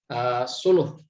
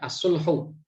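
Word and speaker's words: صلح: satunya dengan metode Suluh nah ini Solo ya bacanya adalah Suluh ya sulhu ya kita bisa membaca dengan sebutan khas Solo yang kedua ada metode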